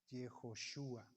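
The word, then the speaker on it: יהושע: Y en Jesús, aquí se pronuncia Jehová y este se pronuncia Yehoshua, como Yeshua.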